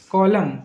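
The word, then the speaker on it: column: WATCH watch, watch मतलब होती है घड़ी, वॉच में टी साइलेंट है। कॉलम, कॉलम मतलब होता है कॉलम मतलब होता है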